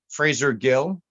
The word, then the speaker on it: Fraser Gill: I know Fraser girl why'd you say his name wrong and then say it right Fraser Gill well that's right f r a s e